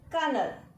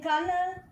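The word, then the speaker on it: colonel: Next, 14th, kernel. In kernel, the middle L is silent, but the final L we are pronouncing.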